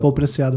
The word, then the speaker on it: Paul Preciado: Não sei como pronunciar aqui melhor, Paul Preciado, né? Ele é espanhol. Ah, ele é espanhol? É espanhol. Ah, então. Paul Preciado mesmo.